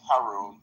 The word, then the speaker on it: Haroon: I think I mispronounced it earlier. It's okay. My friends call me. It's Haroon. Haroon.